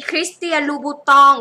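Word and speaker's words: Christian Louboutin: อยู่ ชั้น ไหน เอ่ย จะ มา หา มี คริสเตียน บูตอง คริสเตียน บูตง คริสเตียน บูตอง คริสเตียน ลูบู คริสเตียน บูตา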